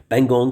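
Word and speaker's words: Pangong: पगोंग सो T silent होता है।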